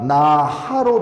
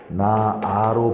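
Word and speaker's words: 낳아: 하지만 발음할 때는 우리가 나하로 발음하느냐? 아니라는 거죠. 어떻게 발음해? 나아로 발음합니다.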